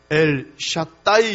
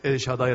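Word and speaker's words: El Shaddai: 사람이 숨어 감사하고 그런데 원래 발음은 l 샥 따이 이러고 해야되고 다하게 애쉬 같다 2 그러나 뭐 다들 엘 샤다이 라고 하니까 그게 전능하신 하나님 이에요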